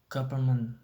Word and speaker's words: government: This doesn't if affect the pronunciation of government, which has only R, but English government tends to be pronounced government, dropping out the first N.